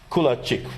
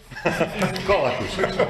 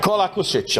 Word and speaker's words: Kolakušić: And another colleague from Croatia, Kulačić, right? Do I pronounce it correct? Right now, not. Kolakušić. Kolakušić, I know it's tough with all these names.